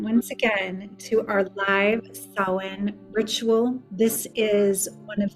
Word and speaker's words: Samhain: And Samhain is such an interesting word because it doesn't sound anything like it looks.